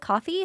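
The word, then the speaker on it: Ko-fi: Is that how you pronounce it? Coffee.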